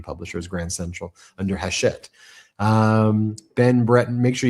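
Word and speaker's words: Hachette: Hashet.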